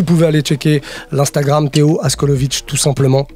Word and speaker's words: Askolovitch: Donc vous pouvez aller checker l'Instagram Théo Askolovic, tout simplement. TCH, enfin tout simplement, c'est pas si simple que ça finalement, mais TCH à la fin en tout cas. Comme ça se prononce.